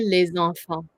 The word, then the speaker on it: les enfants: However, because these two words are liaised together, like in a phrase, you would pronounce the last S of the le almost like it was liaised with this one. So you would say les enfants.